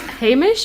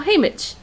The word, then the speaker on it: Haymitch: sound the same agreed it's hamish or haymitch hey mitch well ch doesn't make a sh sound it makes it maybe